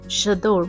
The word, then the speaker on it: J'adore: Another favorite classic perfume is J'adore by Dior. It's a French pronunciation, so the J is pronounced as Ja.